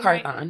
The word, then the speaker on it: Carthon: She is, did I say her name Carthon.